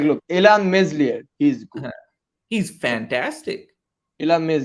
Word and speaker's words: Meslier: but like look elon meslier he's he's fantastic he loves there he's good i don't know not messier you don't know your french pronunciation i don't know i don't